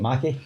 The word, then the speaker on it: McKay: case they see this yeah okay is it Mackie yeah I think as uh Mackay who's